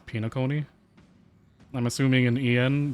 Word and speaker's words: Penacony: Okay, so at least in the JP audio it's pronounced Penacony.